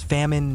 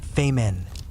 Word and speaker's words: famine: It's famine, not famemen, one shouts.